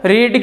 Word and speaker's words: read: और रीड की third form रेड, meaning वही होती है, उच्चारण अलग करते हैं, तो रेड यानी कि थर्ड फॉर्म यही होगी।